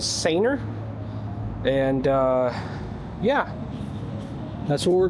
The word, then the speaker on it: Sanooer: I was corrected on the pronunciation. They said it was Sanooer.